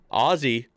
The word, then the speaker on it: Aussie: Aussie is A-Z. There's a difference. Since the O and the AU pronounce different phonemes, it's better to simply clarify the Z sound.